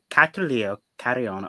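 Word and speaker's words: Catrileo Carrión: Comunidad Catrileo Carrion are a queer, trans, non-binary, indigenous Apupian.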